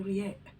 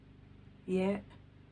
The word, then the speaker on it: ياء: Again, and finally the letter yeah, yeah, yeah. It is like the letter y in the word yes. Yeah, yeah, yeah.